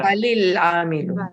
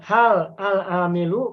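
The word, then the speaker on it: هَلِ الْعَامِلُ: Nah, bagaimana cara baca sukun ketika bersambung dengan alif lam? Sukun yang pertama menjadi kasrah. Ya, Halil amilu. baik. Harus menjadi kasroh. Hal al-amilu, kalau diwasol maka menjadi halil.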